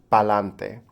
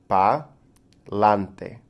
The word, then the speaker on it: palante: It's a word, it's pronounced palante. So say it with me. Palante. Palante. This is a combination of two words, para adelante, which in English loosely means moving forward and continuing on.